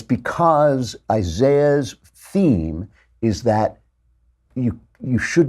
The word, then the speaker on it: Isaiah: And I want to talk about the book of Isaiah, or as the British say, Isaiah, because the British are just so annoying.